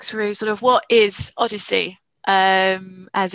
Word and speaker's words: OHDSI: So I'm going to just sort of briefly walk through sort of what is ODSI, as it's pronounced.